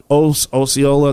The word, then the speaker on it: Osceola: Now she went to Osceola County Jail. I believe that's how it's pronounced. Osceola.